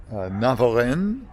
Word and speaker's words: Navarrenx: First stop is a little town of Navarrenx. I think that's how it's pronounced. It has an X at the end of it, but I'm pretty sure you don't say that.